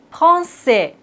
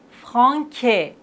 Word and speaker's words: français: Mais s'il n'y a pas de cédille, on doit les prononcer comme ça. Franquet, garcon, facade, décu. Mais on a la cédille, donc on doit dire français, garçon, façade, déçu.